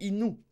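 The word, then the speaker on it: いぬ: C'est Innu. Innu. En japonais et en chinois, ça se prononcera Ken.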